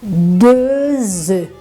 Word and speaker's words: œufs: Se esta palavra está no plural, você vai falar 2 œufs, 3 œufs, ok? Você não pronuncia o F.